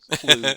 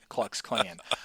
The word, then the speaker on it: Klux: I always thought, even if you would have asked me a week ago, I actually Yeah. thought it was Clue, KLU, Klux Klan.